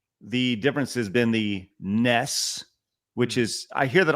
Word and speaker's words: NES: play the Nintendo, I'm going to play the NES, I'm going to go play the NES, right?